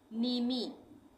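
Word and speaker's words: mneme: word को कैसे पढ़ेंगे नीमी यानी एम का उच्चारण नहीं होगा यहां प मिनिमी नहीं पढ़ेंगे इसमें एम साइलेंट हो जाएगा यानी नीमी ठीक है नीमी नीमी का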